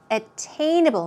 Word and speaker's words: attainable: attainable here we go stress goes right there attainable attainable means obtainable now there is